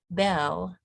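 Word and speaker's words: Beall: in our twenties my friend whose name is pronounced bell but is spelled b-e-a-l-l said we must say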